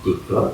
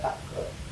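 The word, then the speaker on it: تكرار: Saya mau nanya itu kalimat takror dibandingnya tikror apa takror dalam bahasa Arab? Takror, nggak ada tikror. Cuma emang guru-guru kita bacanya tikror, harusnya takror. Harus bilang mungkin karena simai kali Ustaz ya.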